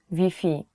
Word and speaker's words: Wi-Fi: You have to change Wi-Fi to Vi.